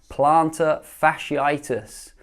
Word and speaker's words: plantar fasciitis: that pops up is a tricky one to pronounce: plantar fasciitis.